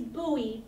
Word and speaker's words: Bowie: sister said the city's Booey but it's spelled like Bowie like David Bowie but it's pronounced Bowie